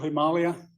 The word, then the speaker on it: Himalaya: Central Himalaya, I'm not being pretentious, that's how you pronounce it, Himalaya, in the state of Uttarakhand.